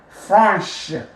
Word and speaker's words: franche: So franc, the C is silent, and then you add your H and the E, and then you will pronounce the CH as sh, right? So franc, franche, franc, franche, franc, franche.